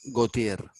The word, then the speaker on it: Gautier: de un poeta que se llama Gotier, ¿no? Se escribe Gautier, Gautier.